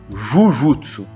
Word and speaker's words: Jujutsu: Mas quando vai se falar de Jiu-Jitsu japonês, sim, o correto seria Jujutsu.